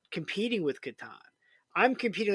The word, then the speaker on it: Catan: You say Catan.